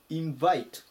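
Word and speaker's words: invite: 行きます 206 番インバイインバイ強く読むところがこのバですね I の上になりますアクセントに注意しましょう招待するとか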